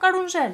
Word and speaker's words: carousel: in the previous mv they were dancing on that carounsel (continues to say it wrong *carousel*) isn't it called carousel? (realises) yes, carousel (hihihi) and all the scenery